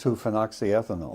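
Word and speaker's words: 2-phenoxyethanol: How do you pronounce two phoxy ethanol?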